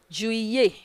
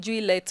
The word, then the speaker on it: juillet: July is juillet, juillet. Don't pronounce it juillet o. Juillet. Again, juillet. Again, juillet.